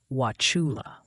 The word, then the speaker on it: Wauchula: All right, Ryan, let's break it down with a bit of a drawl. Wauchula. Just imagine you're coaxing a sneeze out of a southern gentleman.